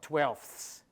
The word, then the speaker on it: twelfths: So let's take the suffix that's spelled th, which you find on the one hand in the ordinal numbers, so twelfths. Twelfths. Twelve, but twelfths. Say, now, or, five, and you say fifths.